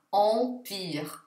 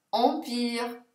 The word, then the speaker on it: empire: Perciò la parola impero in francese si leggerà empire, empire, mentre EN si legge en, quindi lento si dirà lent, lent.